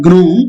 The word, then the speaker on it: gnome: Okay, gnome, it's like a genie, or it's like a small creature or a spirit. It's not gnome, it is gnome.